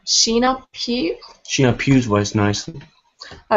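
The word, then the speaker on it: Sheenagh Pugh: men poem how do you say that name sheena pew she appears voice nicely i also read some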